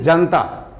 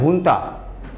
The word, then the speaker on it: junta: Words can pronounce is जनता, सब तो जनता ही पढ़ देगा और वो समझेगा कि आम जनता नहीं, मगर वो सही प्रोनाउंसिएशन उसका है हुंता। लिखते हैं जनता, पढ़ते हैं हुंता, है ना।